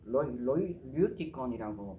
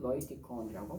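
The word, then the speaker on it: Λευιτικόν: 또 레이티콘에서 류티콘이라고 발음하기도 하고 로이티콘이라고 발음하기도 합니다.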